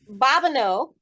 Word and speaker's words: Babineaux: they spelled it different well you know well babano the presents I spell it v-a-b-i-n-e-a-u-x but it's um somewhere along the